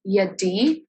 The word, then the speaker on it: Yadi: name is yadi and if you have no idea how to pronounce it it is yadi oh it is easy um and i'm a university